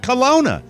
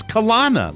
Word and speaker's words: Colonna: i would have said kalona would you put the two n's after the oh it's kalana like a colonic colonoscopy well we stand uh